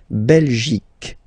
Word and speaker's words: Belgique: Remember, Q, U, E here, you will get only the sound K, K, okay? Belgique, Belgique. So it's not Belgique, not at all, okay? Because it's only the K, K.